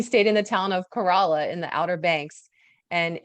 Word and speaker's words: Corolla: so we learned that it's not corolla even though it's spelled that way we stayed in the town of kerala in the outer banks